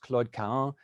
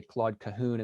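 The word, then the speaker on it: Claude Cahun: moore now in french her name should be pronounced claud ka but most english speakers especially in the united states say claude cahoon and so that's the pronunciation i'll use tonight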